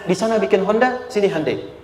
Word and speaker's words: Hyundai: sana bikin Honda sini hundai Hyundai kan dibacanya Hai Ya kan sana Honda